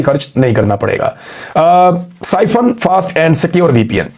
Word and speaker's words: Psiphon: साइफन fast and secure VPN, ये आप देख लें।